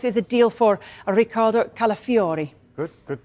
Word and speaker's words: Calafiori: Arsenal how close is a deal for Ricardo calafiori good good pronunciation that Haley look look at this 35